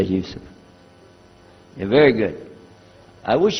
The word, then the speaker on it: Yusuf: My name is Yusuf. Do you say Yusuf? You say Yusuf.